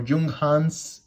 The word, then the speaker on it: Junghans: use of seeing in jungan so jungkans or jung hans if we want to to pronounce it in another way it's it's a brand